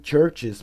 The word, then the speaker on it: CHVRCHES: Open the door que me lembrou bastante também Churches para quem não escuta CHVRCHES que geralmente se escreve chvress chess assim C-H-V-R-C-H-E-S né eh church